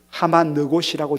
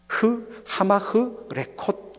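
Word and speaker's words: המחלקות: 바위, 그리고 우리나라 말로는 번역이 하마느곳이라고 되어 있지만 정확한 히브리 발음을 그대로 하면 하마흐 레콧 이리 됩니다. 하마흐 레콧. 그런데 이것을 우리나라 말로 이 발음이 잘 안 되다 보니까 하마느곳 이렇게 했지만 정확하게는 하마흐 레콧입니다.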